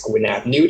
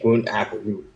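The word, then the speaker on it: Gwyn ap Nudd: There's two ways that his name is pronounced. It's Gwyn ap Nude and Gwyn ap Nude.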